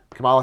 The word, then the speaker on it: Kamala: Kamala Khan, that's how you say it. Kamala.